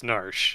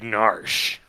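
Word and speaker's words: Gnarsh: pronounce any of it it's narsh it's pronounced i can't spell anything more complicated i come from g though that it's because it's actually pronounced gnars okay the gur is silent it's more of a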